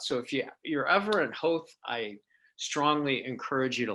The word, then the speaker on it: Howth: Am I pronouncing that correctly, Howth? You are, yeah, Howth.